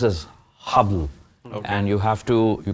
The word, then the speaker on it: Haball: to the name so it's Arabic actually it's pronounced as habble and you have to you can't say Bal